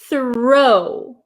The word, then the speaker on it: throw: movement of my mouth the next word you have written is throw throw my my mouth makes a big O right th throw and